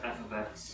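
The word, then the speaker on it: f(x): You don't say f parenthesis x parenthesis. You don't say it like that. Anybody remember how you say it? Chris? It's f of x.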